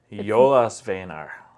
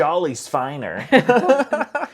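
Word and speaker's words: Jólasveinar: Jolasveinar. That was pretty good. I was going to say, as long as you don't pronounce the J as a J, Right. you're pretty good. Jolasveinar. The Jolasveinar.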